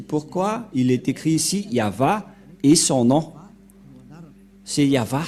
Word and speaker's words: Yah: du grandpère Moché ne pêchent point le nom prononcé par le grand-père Abraham c'est yava et le nom initial de ce Dieu c'est